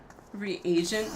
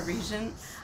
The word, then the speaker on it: reagent: so high right now reagent not a regent I've always called it